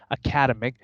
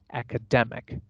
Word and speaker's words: academic: we pronounce as ick we always put the stress on the syllable immediately before the suffix ick we always stress the